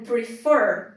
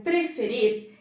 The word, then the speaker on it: prefer: do que uma sílaba, a sílaba tônica do verbo prefer é a última.